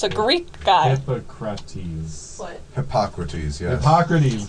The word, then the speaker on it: Hippocrates: And it's spelled more like hippo, as in the animal. You know, that's why Ty pronounced it Hippocrates.